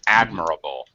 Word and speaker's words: admirable: Okay, one small pronunciation correction. Admirable. Admirable. Admirable. First syllable stress.